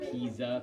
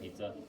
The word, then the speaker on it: Pisa: out of the country it's called pisa p-i-z-a but it's spelled like pizza so people always call it pizza i always call it